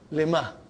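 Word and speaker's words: لِمَهْ: Lima. So ha will come as a silent, lima. You are not pronouncing it because there is a sukoon on it.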